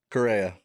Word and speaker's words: Correa: Correa.